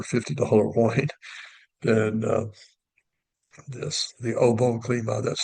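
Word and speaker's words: Au Bon Climat: Or maybe a better $50 wine than this, the OO Clema. That's spelled A U B O N C L I M A T.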